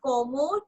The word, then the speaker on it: comment: Okay, so this one is como tu t'appelles. Okay, first one as in COMMENT. So again ENT as in T nahi pronounce karna.